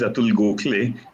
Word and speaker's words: Atul Gokhale: much uh devyashi and my name is atul gokule uh if you just pronounce it that way okay okay i'm so